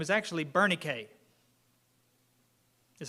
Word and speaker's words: Bernice: the English pronunciation I don't know the American pronunciation uh because her name is actually Bernay is how you say it uh and you